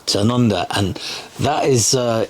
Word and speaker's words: Tanunda: Lynn's going to say it because I always pronounce it wrong. It's Tanunda. Tanunda, and that is it's in the Barossa Valley, which is famous wine growing region.